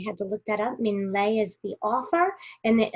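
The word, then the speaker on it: Minh Lê: Ming Lei is how you say it. So I thought that was, I had to look that up. Ming Lei is the author, and the illustrator is Dan Santant.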